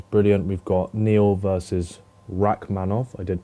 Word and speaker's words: Rakhmonov: We've got Neal versus Rakhmonov. I did pronounce that correctly.